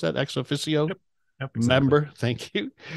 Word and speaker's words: ex officio: Is that how you pronounce that? Ex officio?